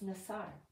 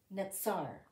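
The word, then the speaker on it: נָצַר: a completely different word it's nasar okay it's I'm sorry the nasal my allergies are stopping me from saying it correctly it's natsar okay and it means Watchman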